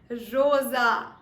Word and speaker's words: rosa: So the next word is pronounced as what? Rosa.